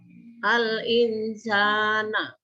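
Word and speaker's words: الإنسان: Lafal al-insana dibaca atau bacaan hikhwa harus dibaca samar. Karena ada huruf nun sukun bertemu dengan huruf sin. Nah, di sini ada huruf sin. Huruf nun sukun di depannya bertemu huruf sin. Jadi membacanya samar.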